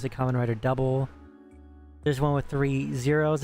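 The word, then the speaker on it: Kamen Rider W: There's one called Common Rider W but you pronounce it common writer double.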